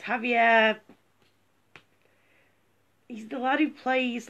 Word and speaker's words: Javier: I apologise for pronouncing your name wrong. It's Javier.